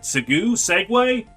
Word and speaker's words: segue: Segue? I mean, no, that's not pronounced seg.